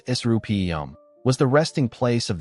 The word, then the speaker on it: Serapeum: The Serapeum, pronounced Serapeum, was the resting place of the sacred Apis bulls, living images of the god Ptah.